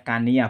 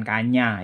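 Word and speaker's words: Kanya: sansekertanya KMI ya ya Ini bacanya Kania bukan kannya ya Kania ini kalau dalam sastra Jawa baru yaitu memang berubah jadi Kenyo ya Canyon jadi orang Jawa baru itu apa menyederhanakan pengucapan Kania menjadi Kenyo tulisannya bagaimana batik ka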